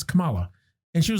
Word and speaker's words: Kamala: Kamala Harris, which is weird that, not shitting on her name, it's a cool name, but I guess the pronunciation is Kamala Harris.